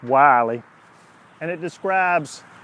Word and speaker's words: Willie Jones: looks like it's spelled Willy but it's actually pronounced Wylie and it describes how he was born in